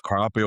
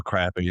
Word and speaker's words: crappie: Depends on what part of the country, and it's crappie or crappie. In Alabama, it's crappie.